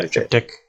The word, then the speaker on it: Triptych: Yeah, Triptych.